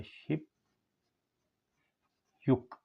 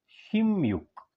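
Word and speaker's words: 십육: ये हो गया शिप युक। लेकिन कोरियन अगर आप सुनेंगे तो ये इसके पढ़ते हैं शिम युक। ये चीज़ बड़ी अहम है देखने वाली। शिम युक, इसका लफ्ज़ प्रोनाउंसिएशन सही शिम युक।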